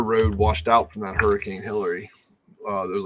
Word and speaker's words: Hurricane: The way it's spelled, it is hurricane, but it is pronounced hurricane, and we're going there next week for a cross country match.